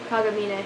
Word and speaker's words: Kagamine: Kagamine.